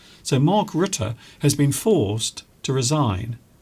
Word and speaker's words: Rutte: Mark Rutte, and a lot of people have been mispronouncing his name, but his name is pronounced Rutte. So Mark Rutte has been forced to resign as his party no longer has control and they cannot rein in immigration.